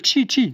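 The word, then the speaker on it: Qi: Alors, vous savez comment ça se prononce ? Q I Q Q Q Chi Chiès bien, c'est compatible Chi 2 pour recharger deux fois plus vite.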